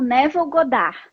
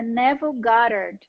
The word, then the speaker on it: Neville Goddard: Então aqui no Brasil ele é conhecido como Neville Goddard. Só que a pronúncia não é essa. A pronúncia em inglês é Neville Goddard.